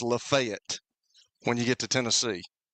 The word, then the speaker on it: Lafayette: Lefayet, Tennessee. I mean, it's it's Lafayette. I mean, what are we doing? You know what I'm saying, right? Lafayette, Louisiana. Lafayette, Indiana. But it's Lefayet when you get to Tennessee.